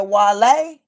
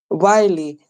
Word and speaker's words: Wiley: You said Wale? Wiley, type his name on Google. Okay, Wiley, spell it for me.